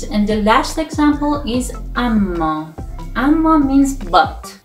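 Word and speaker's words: اما: The next and the last example is amma. Amma means but. It's pronounced like amma.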